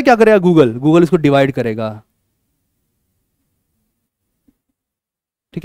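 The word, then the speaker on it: Google: तो बेसिकली आपके फोन में नेट है, ठीक है, गूगल है गूगले ना, गूगले नहीं, गूगल है, ठीक है।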